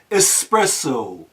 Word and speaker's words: espresso: such a thing as espresso coffee. This is a common mispronunciation of the popular European hot drink known as espresso.